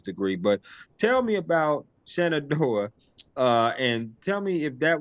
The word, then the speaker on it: Shenandoah: I don't know how to pronounce this university. Is it Shenandoah? Is it Shenandoah? Shenandoah.